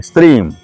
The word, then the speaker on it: श्रीम: इसका उच्चारण है ओम ह्रीम श्रीम हुम फट। पूरा स्त्रीम नहीं कहना है और पूरा त्रिम नहीं कहना है। श्रीम ठीक।